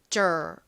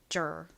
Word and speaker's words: deur: D-E-U-R 이 부분을 보면 보통 이걸 뭐라고 읽어야 되나? dear 뭐지? 이렇게 헤매실 수 있는데 deur은 덩어리로 jer 이렇게 읽어주시면 됩니다. jer.